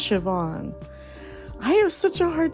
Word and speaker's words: Siobhan: never heard of cahan well guess what it's pronounced Shian I have such a